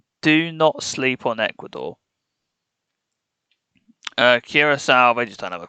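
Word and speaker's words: Curaçao: And the Canadian fella who couldn't pronounce a single country to save his life, and he pronounced Curacao Coroco. That I lost my mind when I heard him say Coroco.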